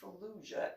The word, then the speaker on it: Fallujah: what'd I do wrong where did you see Fallujah and how do you know how to pronounce that how it's pronounced no that's exactly